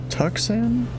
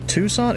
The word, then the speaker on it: Tucson: Tucson? Is it Tucson? Giant 1990, you cleared the, Guess that makes sense. Kilo Lima Charlie Kilo Yes. Airport via last. The C is silent.